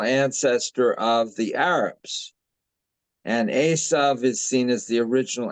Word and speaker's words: Esau: eventually of the Christians how come we say and you always say Asa and how do you say it everybody I think that has talked about it says it the way I say it Esau okay Esau no it's still not the same but whatever we know